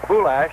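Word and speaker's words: Bulaich: The target on this one was Bouash. Norm Bouash. The name is spelled B U L A I C H but it's pronounced Bouash we are told.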